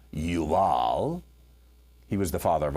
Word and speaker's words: Jubal: His brother's name was Jubal. It would actually be pronounced in Hebrew, Yabal, Yuval.